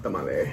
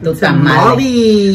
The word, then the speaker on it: tamal: Oh, I freaking love tamale. How do you pronounce it, tamale or tamale? Tamal. Tamal. Tu tamale.